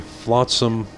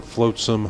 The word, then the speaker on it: flotsam: eight okay and again the flotsam or floatsome however you want to pronounce it fence does not